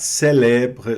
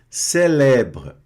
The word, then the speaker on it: célèbre: Célèbre. Célèbre. Célèbre. Observem que essa palavra aqui, ela está com o primeiro E agudo e o segundo E grave. No francês, o E agudo, ele tem o som fechado, C.